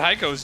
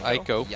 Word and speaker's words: Heiko: How do you even pronounce Heiko with the H being silent? Aiko.